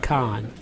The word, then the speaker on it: Kahan: Yeah, it's spelled Kahan, but it's pronounced Khan.